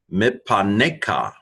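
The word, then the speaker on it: מִפָּנֶיךָ: So this is a short vowel in this case, and so the first pay finishes the first syllable, mip, and then the second pay begins the next one.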